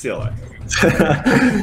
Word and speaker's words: CLI: also ever heard i've heard people pronounce it as clyde before have you heard that one no that's definitely not clyde yeah no all right it's cli yeah for sure uh very